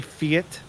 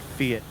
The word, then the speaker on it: fiat: At some point in that song, he does say fiat. Right. You really have to see it. And I think that's the only time I've ever heard, at least noticing that I've heard it anyway, of anybody calling it fiat instead of fiat. Which, to be honest, I thought he just kind of changed it to make it rhyme.